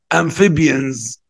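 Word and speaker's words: amphibians: ميموز ميموز ام فيبرز البي اتش هننطقها ونقول البرمائيات اسمها انفيبينس انفيبيونز اضم بقي فيرز فيرز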